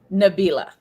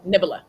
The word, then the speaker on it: Nabila: Nabila." Nabila. Okay, because we've had every variation of it. Nabila. Now I will tell you this, Melissa. Every time I saw Melissa would go Nibila.